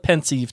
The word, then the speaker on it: Pensieve: Mary and Blake media how is IE supposed to sound it's supposed to be e but the the the fact of the matter is uh is that pensive or pensive is a play on